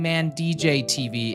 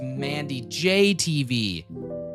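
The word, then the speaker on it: MandyJTV: You're putting the pause in between the wrong letters. Mandy J. Oh, I'm saying Man DJ TV. It's Mandy J TV.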